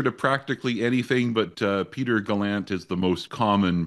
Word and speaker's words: Peter Gallant: is galant or gallant or I answer to practically anything but uh Peter Galant is the most common pronunciation.